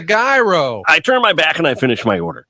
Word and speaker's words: gyro: the gyro Supreme suddenly the lady behind me chimes in it's pronounced Euro then the fella behind her says it's a gyro I turn my back